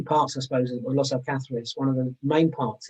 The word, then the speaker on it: Los Alcázares: Yeah, we've had Los Alcatraz, we've had, anyway, all sorts of pronunciations. This is Los Alcázares. Los Alcázares, yes.